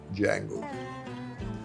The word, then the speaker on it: Django: He says, "Django." Can you spell it? D-J-A-N-G-O. The D is silent.